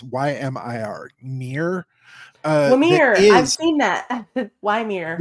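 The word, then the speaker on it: Ymir: Carl Alexander has built this service, and I always butcher it when I pronounce it. It's Y-M-I-R, Mir.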